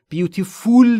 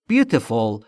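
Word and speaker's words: beautiful: لایف لایف لایف لایف زندگی عمر جان لایف life لاف زندگی از بف زیبا تلفظ بوتفول رو دقت داشته باشید بیف فول نیست بوتفول یعنی زیبا زیبا زیبا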